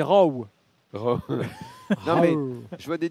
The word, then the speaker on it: Rowe: Alors, dans la nouvelle prononciation par Lionel Tony, c'est Rowe.